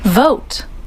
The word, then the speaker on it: vote: Vote. Vote. Okay, so pay attention to the pronunciation. Vote, vote, vote. So that is the correct. With V.